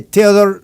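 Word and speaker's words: Theodore: Theodor se dice Theodor Roosevelt, pero se escribe T H E D O R E.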